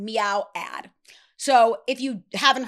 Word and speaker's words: Miaou: Now, I personally think like Nika reminds me of a Meow is the way you pronounce that brand. Meow ad.